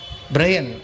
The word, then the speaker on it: Brian: அவர் சொன்னார், you should not call me பிரையன், you must call me பிரியன். பிரையன் சொல்லக்கூடாது, நம்ம அப்படியே ப்ரொனவுன்ஸ் பண்ண BRAN, பிரையன். You must call me பிரையன். பிரையன் இல்லை, பிரியன். என்னை பிரியன் கூப்பிடணும்.